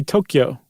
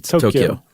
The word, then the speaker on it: Tokyo: how about that or I should say Tokyo I I've been saying it wrong Yumi says it's Tokyo yeah I've been saying